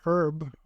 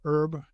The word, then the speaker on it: herb: For me, there was a herb or herb, depending on how you want to pronounce it called Kava Kava.